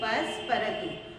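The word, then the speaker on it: Passepartout: अब यहाँ पर देखिए ये फ्रेंच कैरेक्टर्स हैं तो इनके नेम का प्रोनाउंसिएशन करना बहुत मुश्किल होता है. यहाँ पर स्पेलिंग कुछ और है और उसका प्रोनाउंसिएशन जो है वो कुछ और है. तो यहाँ पर हम इस स्पेलिंग को पढ़ेंगे पसपरतु.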